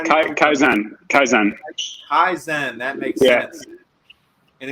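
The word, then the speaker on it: 改善: Is it kaizen or how do you Kaizen?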